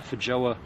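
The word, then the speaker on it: feijoa: let me bring up for joa that's how it's pronounced but the spelling f-e-i-j-o-a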